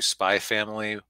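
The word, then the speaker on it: Spy × Family: been slowly watching through Spy Family. It's spelled Spy X Family, but it's, apparently you're supposed to leave out the X because Japanese anime titles are confusing.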